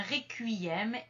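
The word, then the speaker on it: requiem: du point numéro 4 ce n'est pas la prononciation C c'est la prononciation cui un petit peu comme dans le mot cuisine c'est-à-dire avec un U qui est un petit peu emphatisé et on va le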